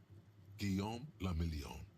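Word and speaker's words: Guillaume Le Million: Guillaume Lamillion. If it doesn't rhyme, you're not pronouncing it right.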